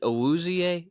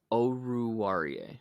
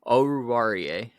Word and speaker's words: Oruwariye: Is it Owuzie? Is that how you say his name? Oruwariye. Okay, I'll get it right next time. Oruwariye.